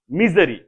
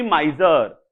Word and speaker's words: misery: gist प्रथम word होउची मिजरी देखो उच्चारण चेंज कली रूट रे कहितली माइजर बट उच्चारण जब MISERY नेली से उच्चारण चेंज हो गला माइजरी नुहे मिजरी ठीक अच्छे दिस इज